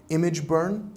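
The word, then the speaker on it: ImgBurn: Another program would be Image Burn, which is great for, it's spelled IMG instead of full word image.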